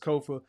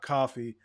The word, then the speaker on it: Kofa: Again, I have been your humble host, Kofa, Kofa, not coffee, not kufu, not Kofi, or any variation thereof. Kofa rhymes with sofa.